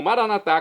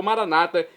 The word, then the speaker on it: Maranata: E agora eu clamo Maranatá, como dizemos nós católicos, ou Maranata, como dizem nossos irmãos separados das comunidades evangélicas ou protestantes. Não importa a pronúncia, o significado é o mesmo.